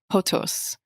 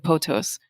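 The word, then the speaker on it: pothos: example the the ancient greeks had this word potos which i may be mispronouncing but it's p-o-t-h-o-s and it basically meant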